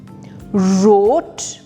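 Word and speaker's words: wrote: हो रहा है तो ये वर नहीं होगा ये र से स्टार्ट होगा ठीक है क्योंकि डब्लू साइलेंट है वो क्यों क्योंकि वो आर से पहले आ रहा है तो पहला वर्ड है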